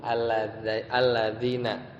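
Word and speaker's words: الذين: Alladzina, ya alladzina bacanya, ya.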